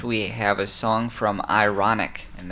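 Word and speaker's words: Ironick: have a song from ironic and that is spelled i-r-o-n-i-c-k so that's ironic with the k at the end and he is uh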